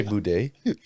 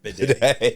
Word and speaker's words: bidet: Say boudet. How do you pronounce it? Bidet.